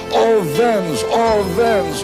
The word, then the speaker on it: Owens: crowd of 120,000 shouting, "Orven, all the W in German, you know, pronounced as a V." And they were all shouting in unison, "Owens! Owens!"